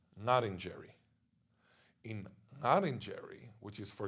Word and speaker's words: Ngarrindjeri: Ngarrindjeri from the English, and therefore they say Ngarrindjeri with a R, which is funny because when I say Ngarrindjeri, which is the original pronunciation, they would correct me and say, oh, no, it's Ngarrindjeri.